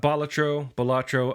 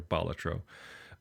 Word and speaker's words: Balatro: I don't think there's any wrong or right way to say it. I was going off of Wikipedia's pronunciation, or Balatro. Which is apparently that's the ancient Roman term for I guess Latin term for like a joker or a fool.